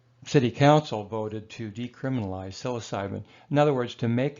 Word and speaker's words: psilocybin: similar to cannabis now the pronunciation of psilocybin mushrooms it's actually selasa be according to the proper Latin philosophy year or side Lhasa be or so we usually say psilocybin or Salafi but you know who